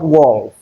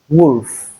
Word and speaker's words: wolf: Some persons pronounce this as wolf. It is not wolf, but wolf, woman, and then bosom, bosom.